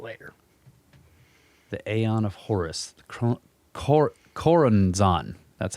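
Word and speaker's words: Choronzon: yeah become relevant later the aeon of horus cor koranzan that's how it's said the demon dweller of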